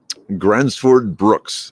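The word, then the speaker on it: Gränsfors Bruk: the uh the brooks grumford brooks but yeah gransford brooks that's how you say it these these are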